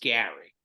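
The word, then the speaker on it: Gerry: Whoopi in the fantasy suites it's spelled Jerry's pronounced Gary Gary okay it's very confusing but it was very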